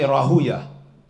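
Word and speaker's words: Rahwayh: There's different ways to pronounce it, but you can say Rahuya.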